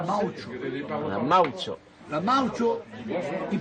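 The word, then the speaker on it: maoche: La moche en français, ça s'écrit M-A-O-C-H-E, et on dit en patois la maocho.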